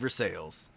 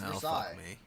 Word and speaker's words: Versailles: theater for sales i know how to save for sales versailles this is versailles huh yeah i'm saying it wrong you you are is it it's versailles do you know i know because i went